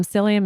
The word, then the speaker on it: psyllium: Which is about three heaping spoonfuls of something like psyllium. Um psyllium is p s y l l i u m the p is silent there.